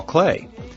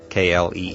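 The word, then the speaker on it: Klee: engineering student like me you may be pronouncing his name CLE kle just as it's spelled however I have it on very good authority that Clay is a proper pronunciation in any event uh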